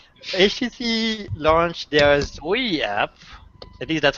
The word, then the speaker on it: Zoe: All right, HTC launched their Zoe app. At least that's how I assume you pronounce Zoe. Yeah. It's Zoe.